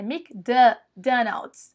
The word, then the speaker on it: McDonald's: ou então McDonald's McDonald's você não fala McDonald's é mcdonals OK Esse é MEC aí eles falam quase que um Mc Mc como se tivesse um izinho no meio então Burger King e